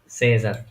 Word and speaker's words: Caesar: তারপরে দেখি c, a, e, s, a, r, Caesar, সেজার।